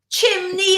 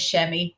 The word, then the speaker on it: Chemmy: We have Chimney Alcott. I was like, Chimney. That's kind of how it's spelt. So he thought my name was Chimney, and then everyone took the mickey out of me. And I was like, you know what? My name is Chemmy.